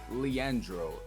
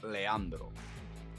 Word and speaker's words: Leandro: So, it's Leandro. I am Latino. If um if any of you guys are Latino, you would say it like Leandro.